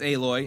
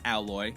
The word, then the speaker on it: Aloy: Horizon you play as aloy and yes that is how you pronounce her name not alloy anyway you play as aloy a member of the